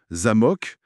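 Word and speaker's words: замо́к: L'exemple classique, c'est zamok. Accent sur le A. Ça ça veut dire château. OK. Mais si on déplace l'accent sur le ha zamok euh et bien là ça veut dire serrure.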